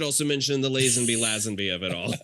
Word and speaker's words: Lazenby: believe he says like George Lazenby himself says Lazenby so I'm inclined to go with his pronunciation and anybody who has